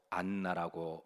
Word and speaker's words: 안나: 딸의 이름을 한나 그리고 헬라시대 이름이 이제 다소 변형이 되어서 헬라식 발음으로 안나라고 많이 지었는데요 그녀이 한나 이름의 뜻은